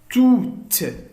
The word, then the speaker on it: toutes: Toutes. Souvenir. Beaucoup. Touristique. Alors, nous, toutes, ES à la fin, on ne le prononce pas.